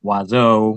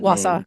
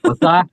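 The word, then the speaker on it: Wausau: turning the town of Wazo or I'm sorry if I'm mispronouncing that name. Wasa. Yeah. Wasa. Okay. I've got it wrong.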